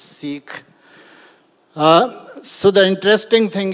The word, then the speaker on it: Sikh: even uh Richard asked me how do you pronounce It's seik s i k h it's not seik it's seik uh so the interesting thing is that uh